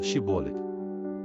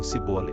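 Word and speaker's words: Shibboleth: um teste de pronúncia os gitas pediam que cada fugitivo dissesse a palavra shibo os efraimitas devido ao sutaque pronunciavam sibo revelando sua identidade e cerca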